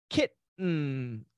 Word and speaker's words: kitten: Mount um Mount um kitten a baby cat kitten kitten very common pronunciation when you have the T and the ing or an n Sound uh Khalil that's right